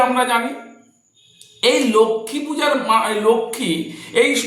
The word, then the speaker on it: লক্ষ্মী: হবে লক্ষমী পূজা আমরা জানি এই লক্ষমী পূজার লক্ষী এই বানানটা অনেকে ভুল লেখেনলক্ম বানানটা হচ্ছে ল কয়ে